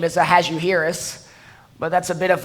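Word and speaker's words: Ahasuerus: of has a yearís the proper way to pronounce his name as a has you Harris but that's a bit of a tongue twister so most speakers prefer to pronounce it a hazardous the hazardous is not the Kings proper name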